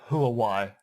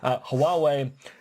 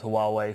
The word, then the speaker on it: Huawei: I was going to go Huawei, and of course that's wrong. Huawei. Huawei are a major Chinese firm which may or may not have connections to the CCP.